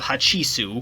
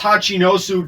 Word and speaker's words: Hachinosu: pirate paradise island of hachisu it's pronounced hachinosu dumbass the former shiichukai gekkomoria